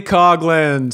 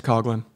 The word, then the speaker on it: Coughlin: It's Coughlin. I would say that as really? Coughlin. I would say that as Coughlin. But it's, hey. Because it's a Coughlin. Rowdy Gaines pronounces it Coughlin.